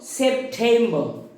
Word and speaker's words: September: আমরা আগের দিন শিখেছি যে টয়ের উচ্চারণটা ব্রিটিশদের ক্ষেত্রে ঠ হয়ে যায়, তো সেই জন্য সেপ্টেম্বর। এবং আরেকটা রুলস সেটা হচ্ছে